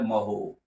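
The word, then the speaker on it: mho: Ohm inverse, जिसको spelling ही उल्टा कर दिया जाए महो, महो भी बोलते हैं।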